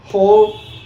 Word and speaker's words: whore: O, so, shore, pour, core, chore, whore. W is silent here.